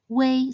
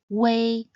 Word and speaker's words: ui: Wei sounds similar to the word way. Just remember to pronounce it short and quick. Wei, Wei.